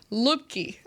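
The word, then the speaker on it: Luepke: Lupke. Am I saying it right? Yeah, Lipke.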